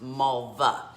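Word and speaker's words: Malwa: it's pronoun i mean it's spelt m a l w a but it's pronounced malva and uh so this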